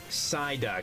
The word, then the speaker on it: Psyduck: It's pronounced Psyduck, true.